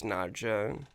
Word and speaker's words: Nadja: One of the main characters, Nadja, it's like Nadia spelled with a J.